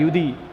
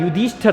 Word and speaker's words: युधिष्ठिर: में पूछा जाता है युद्धि युद्ध नहीं होता है युधिष्ठिर होता है युधिष्ठिर संधि में पूछा